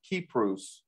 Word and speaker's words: Kypros: was a magi on the island of Cyprus, which I hear people over there pronounce it Kypros.